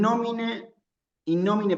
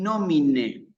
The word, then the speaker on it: nomine: Fíjense que acá dice in nomine, ¿sí? En el latín es muy importante que se escuche con precisión, con claridad, el final de la palabra, especialmente que se escuche la E, ¿sí?